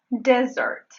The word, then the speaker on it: desert: Y "desert" se pronuncia con la fonema | e |. - el segundo fonema - | de | y luego, en breve, dice "sert". No es "serrrrrrt". Es "sert": "desert".